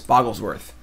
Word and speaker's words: Bogglesworth: Bogglesworth is 2 G's. Bogglesworth. So you heard Boggles, not Bogles. The proper way to say that deck name.